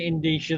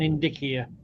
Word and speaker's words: indicia: Anyway, I'm going to stop calling it Indisha. That's K's word. I'm going to call it an indicia because it's based on Latin. And in Latin, Caesar pronounced hard like kaillius and carnis.